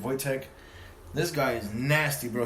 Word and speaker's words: Wojtek: His name is Wojtek, actually, is how you say it. Wojtek.